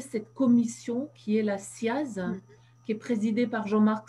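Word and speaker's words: CIASE: Et je renvoie vraiment les internautes sur le site de la SIAZ. Ça s'écrit C-I-A-S-E, la SIAZ.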